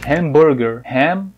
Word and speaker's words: hamburger: Então, hambúrguer, que a gente fala, a pronúncia lá do inglês é hamburger.